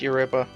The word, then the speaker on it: Europa: There we go, it's Europa. Not Europe, even though it's spelled exactly the same.